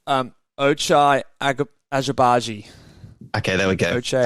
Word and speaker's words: Ochai Agbaji: I believe it's Ochai Agbaji.